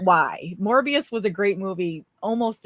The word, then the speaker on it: Morbius: like it's Vertical Horizon morbius was glorious because it rhymes with glorious yes that's right I